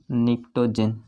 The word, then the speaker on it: निक्टोजन: जाता है दोस्तों निक्टोजेंस, इसको बोला जाता है निक्टोजन, निक्टोजन, इसमें पी साइलेंट होगा, निक्टोजन।